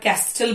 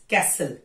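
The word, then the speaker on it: castle: गलत प्रोनाउंस करते हैं जैसे की एग्जांपल है कैसल लोग उसे कई बार कस्टल बोलते हैं इट कैसल listen हसल Bisal रेसल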